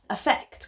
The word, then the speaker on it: affect: which can be heard effect with an A effect with an e even I get this